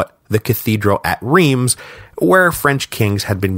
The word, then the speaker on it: Reims: the cathedral at and I'm just gonna say it like this Reims don't at me about the pronunciation I know it's like Ross or something but I can't make my mouth say it so don't make me say it I'm just gonna